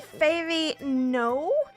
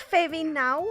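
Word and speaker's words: Fairy Knowe: So there's a wee hill called the Fairy No? Is it pronounced Fairy Now or Fairy No? Fairy now.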